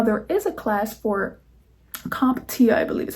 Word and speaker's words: CompTIA: Now, there is a class for CompTIA, I believe is how you pronounce it, CompTIA A+, which is what people get for IT.